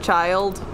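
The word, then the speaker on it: Childe: that his name's child it's spelled like chill day but they pronounce it child and I'm like that's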